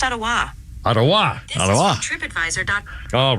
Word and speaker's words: Ottawa: Similarly, the name of the nation's capital, Ottawa, is pronounced Ottawa.